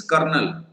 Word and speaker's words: colonel: okay see this uh the spelling of this uh colonel is right but the pronunciation is kernel so lieutenant or sometimes